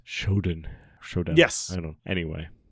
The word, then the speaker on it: Shodown: I guess it's Showdown.